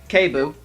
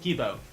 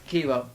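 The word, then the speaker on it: Kiibo: Keibu. Kibu. I will pronounce that right one day without your help. Yeah. It's Ki- K-E-E. Kibu's probably got Kibo. like Kibo. Kibo.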